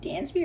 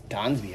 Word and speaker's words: Dansby: Is it pronounced Dansby or Donsby? Dansby. It's Donsby if you're fancy.